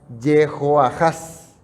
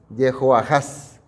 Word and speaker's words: Jehoahaz: Joacás, su pronunciación y transliteración original sería Jehoahaz. Jehoahaz.